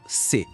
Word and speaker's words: ce: Se a palavra for masculina e começar com um som de consoante, a gente usa se. A pronúncia é bem curtinha, bem fechada, quase um estalo.